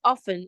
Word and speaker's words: often: So the word often is not is mostly wrongly pronounced as often, but the T is silent.